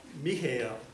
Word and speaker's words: Mihael: He was Michael, but he spelled it, I believe the way he pronounced it, which is Mihael.